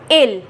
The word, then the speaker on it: il: fill this with I, which becomes IL, which is the pronunciation will be ill, which becomes it or he, and it is singular in French.